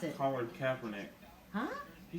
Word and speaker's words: Kaepernick: Colin Kaepernick. Huh? He said Kaepernick. Yes, and how do you pronounce it? Colin Kaepernick. So I used a long A instead of a short A.